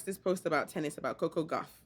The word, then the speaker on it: Coco Gauff: He makes this post about tennis, about Coco Gauff, right?